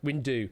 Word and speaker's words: Window: Tarot and uh Windo, how do you say his name? Is it Wu? Wind deu, whatever his name is, but however you say it, um he's used these as uh Window. Say it like that.